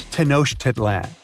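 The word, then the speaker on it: Tenochtitlan: It's Tenosh Tedlan. And Mayan cities are hard to pronounce too.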